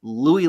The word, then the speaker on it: Louis: who is French and they say you should say Lou but yeah it's not